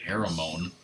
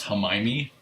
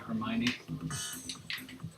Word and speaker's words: Hermione: I thought her name was like Haramone, This is how it's spelled. but it's pronounced Hermione. Yeah, Hermione.